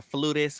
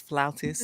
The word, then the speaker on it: flautist: I need to do a dig at CBS because not y'all called her a flutist when the correct pronunciation is flautist.